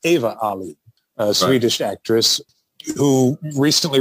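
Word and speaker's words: Ewa Aulin: 1968, starring, now I'm going to butcher her name, I believe it's pronounced Eva Ali, a Swedish actress who recently resurfaced a few years in Italy, where she's been living as a teacher.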